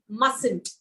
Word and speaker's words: mustn't: one t is silent so the middle t is silent so it is mustn't okay yes must not